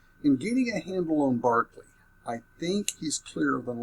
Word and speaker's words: Berkeley: Their Barkley School of Divinity, they call it the Berkeley School of Divinity, is named after him, so they don't keep the Irish pronunciation of his name, which I like, which I prefer.